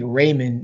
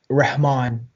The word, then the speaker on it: Rehman: you pronounce it um so in school i mean they call me raymond in school but it's ramon with an h like this sound like